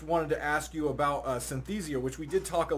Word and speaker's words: Synthesia: Am I pronouncing that right? Yeah, Synthesia.